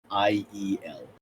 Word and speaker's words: Liriel: Liriel. Lauren. Who alright, runs the got it. slaves? Hey, you said Lir? Like Liriel? No, Lariel? Did you so say it's Liriel. IEL? Yeah, Liriel.